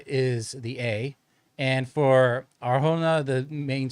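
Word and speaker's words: Adria Arjona: So uh the main stress in Adria is the A and for Arona the main stress is the jo O and the J is of course pronounced with an H like home in Spanish.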